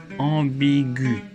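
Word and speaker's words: ambiguë: Au féminin, on ajoute un E, mais G plus U plus E se prononce G, comme dans vague. Donc, on met un tréma sur le E pour indiquer qu'il faut prononcer le U, ambigu.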